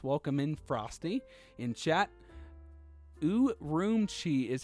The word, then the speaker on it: Urumqi: Urumqi is how you pronounce.